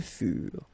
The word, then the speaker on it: furent: Ils furent, elles furent. Keep in mind that ENT, you know, the ending for the plural form is never pronounced, so furent.